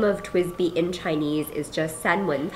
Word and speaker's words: TWSBI: quirky little story and it is pronounced twisby people ask us sometimes in store if it's like twsbi um people are confused by how to say it but it is twisty um and so twisty